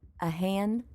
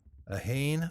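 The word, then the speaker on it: a haon: A hain, a do, a tree. And that first word almost has two syllables. Han. Hayin, like H-A-Y-E-N? Yeah, that'd be a good English equivalent.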